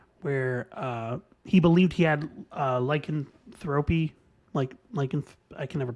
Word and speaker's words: lycanthropy: type of deal, where he believed he had lycanthropy, I can never pronounce this disease. Lycanthropy.